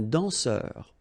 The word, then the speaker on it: danseur: Remember, nasal here, A-N, en, un danseur.